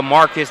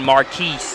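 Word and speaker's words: Marques: this Jacques not Jacquees being a Marcus with my name spelled m-a-r-q-u-e-s I can relate to Jacques as far as those problems are concerned I'm often Marquis Marquez everything but a Marcus the dish inside taking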